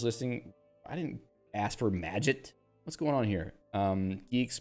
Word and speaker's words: Magit: It's a soft G. Magit. It's Magit, like magic, according to the website.